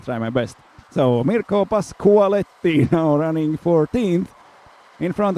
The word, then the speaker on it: Pasqualetti: Now I know it's Pasqualetti, so I'm sorry for yesterday's pronunciation, which was a little bit off.